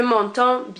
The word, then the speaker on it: m'entends: It has a D and an S at the end. We basically do not pronounce those. Je m'entends bien.